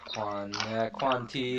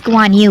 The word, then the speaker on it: Guan Yu: Actually, it's Guan Yu with the Guandao. Whatever, Quan Ti, Guan Yu. So they pronounce his name differently in all sorts of situations. Actually, in Cantonese we call him Guan Dai, so it's actually almost Quan Ti in that way.